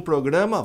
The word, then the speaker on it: program: Ah, eu tenho um programa, vão entender. Eu tenho um problema. A pronúncia de programa é program. Vamos entender esse negócio aqui.